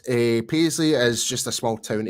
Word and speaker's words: Paisley: you know but you but they Mis pronunciate it I so that's probably the easiest way to say it's like P Le so go so so